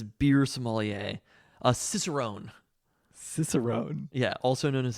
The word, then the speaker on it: cicerone: actually it's Wikipedia just says beer somaler a cicerone cicerone yeah also known as a cicerone in